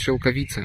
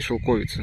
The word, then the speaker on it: шелковица: Говорят, что правильно нужно произносить шелковица, а не шелковица.